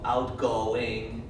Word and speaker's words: outgoing: 可是英文的字不可以说 outgoing，不是这样子，right？outgoing 不是 outgoing，不是 outgoing， it's outgoing. This is the important meaning. It's the important sound.